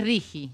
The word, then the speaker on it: RIGI: Estaba pensando si es Rigi o Rigi, pero es Rigi. No, digo, porque escuché ayer en el debate las dos pronunciaciones, pero es Rigi. No, Ri porque no tiene la U.